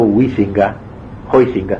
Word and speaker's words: Huizinga: Hay un pensador holandés, protestante creo, llamado Huizinga se dice, pero nadie lo pronuncia así, Juan Huizinga, que escribió un libro que se llama así, Homo Ludens, el hombre que juega.